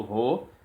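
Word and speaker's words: ρ: Nós temos o rho, que é correspondido pela letra R, R de rato, por exemplo. Então, pode ser pronunciado como R de cara e pode ser pronunciado como R de rato, dependendo se ela tem aspiração ou não, e a gente vai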